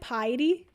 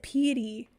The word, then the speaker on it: piety: in the middle boom oh is it piety I have always said pity oh Lord I'm so